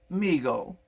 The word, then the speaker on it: Mego: the 70s and 60s and stuff and it's pronounced migo started by his father david abrams in 1954